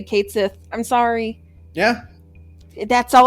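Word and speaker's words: Cait Sith: And then they're just like, it's pronounced Kate Sith on Twitter.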